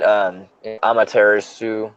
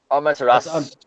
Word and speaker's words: Amaterasu: You don't Like, say the U. Amaterasu.